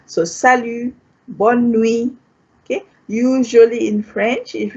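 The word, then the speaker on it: salut: you say thank you the t is silent you don't pronounce the t here so salu okay usually in french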